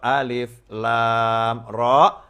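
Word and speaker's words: الر: Maka Allah tidak menyuruh Nabi Muhammad SAW membacanya alama atau alima, tetapi alif, lam, mim, atau alif, lam, ro di dalam surat Yusuf.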